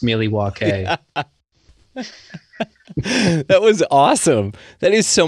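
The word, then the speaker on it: Milwaukee: Excuse me, it's actually pronounced Miliwake.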